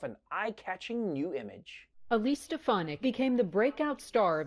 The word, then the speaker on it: Stefanik: Stefanik was clearly on Trump's radar, even if he couldn't pronounce her name. Elise Stefanik.